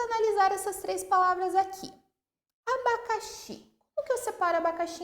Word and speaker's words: abacaxi: Qual que eu pronunciei de um modo mais forte que as demais sílabas? Xi. Ok? Então, essa palavra é uma palavra oxítona, porque é a última sílaba mais forte.